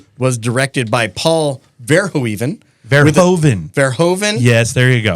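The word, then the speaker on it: Verhoeven: up here that I'm not good with it's verhoven get it right get it right okay I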